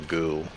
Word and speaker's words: ghoul: It's definitely a ghoul. A ghoul. A ghoul. A ghoul. Ghoul. Ghoul. It's very hard to pronounce for an Australian. Without saying girl.